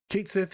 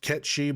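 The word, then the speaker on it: Cait Sith: Kate Sith is this thing. We'll talk about him in a second. Side note, yes, I know it should be pronounced Ketchi, but the game calls him Kate Sith, so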